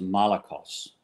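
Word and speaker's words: malakoi: honest arsenicoites okay and the short word is molecules got it well he says and I'm just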